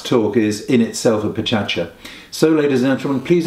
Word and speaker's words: Pecha Kucha: The other thing that Klein Dytham are known about throughout the world is what I have been calling Pecha Kucha, but which I understand is actually pronounced Pechacha, which is the 20 slides, 20 second format.